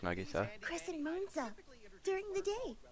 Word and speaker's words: Nagisa: hey Nagisa check it out oh it is pronounced Nagisa CH MOA during the day me huh what